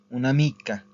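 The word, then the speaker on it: un'amica: que queda una mica una mica Okay eso se se pronuncia junto una mica Okay pero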